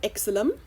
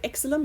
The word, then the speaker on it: xylem: Notice it's not xylem. Okay, some people who don't know how to pronounce this word would say xylem. It's not, it is xylem, like xylophone.